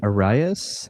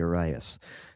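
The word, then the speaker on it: Jodi Arias: She is a Jodi Aries. or Eris, or however you say that one. Arias? I think it's Arias.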